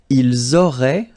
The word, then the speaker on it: ils auraient: Vous auriez, little link between the two, vous auriez, and then ils auraient, little link, but then look, A-I-E-N-T like that, and you only pronounce E, like we had here.